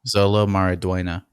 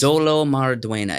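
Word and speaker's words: Xolo Maridueña: you pronounce that name Zolo marua no yes that is marua the u e is pronounced with a YY sound yeah and the N with the uh thing over it is a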